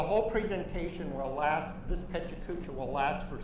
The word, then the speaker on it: PechaKucha: Some people pronounce it pachakacha. It's supposed to be Japanese word for chatter, and I've had 5 different Japanese native speakers give me 5 different pronunciations for this word. So I'm just going to go with pechakucha. And you'll see this is